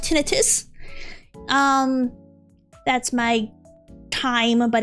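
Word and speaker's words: tinnitus: It's tonitis. No, it's it's pronounced tinitus.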